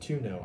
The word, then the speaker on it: tonneau: Somebody told me to pronounce it Tonneau. I say Tanu. Let me know what you think is your favorite way to pronounce the bed cover.